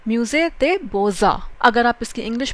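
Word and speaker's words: Musée des Beaux Arts: थोड़ा सा difficult pronunciation है बिकॉज इसको फ्रेंच में बोलते हैं म्यूजे दे बोजा। अगर आप इसकी इंग्लिश प्रोनाउंसिएशन देखते हैं तो होगा आप उसको म्यूजे देस बो आर्ट्स भी बोल सकते हो, अदरवाइज म्यूजे दे बोजा।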